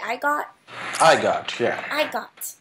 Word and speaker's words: Igot: How do you say I got?